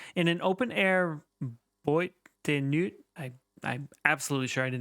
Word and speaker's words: nuit: We're getting French pronunciation help. Nuit.